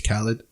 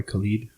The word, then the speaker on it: Khalid: Hallett or how sorry how do you how do you how do you pronounce it properly my name is Khaled okay I also go by Khalid which one do you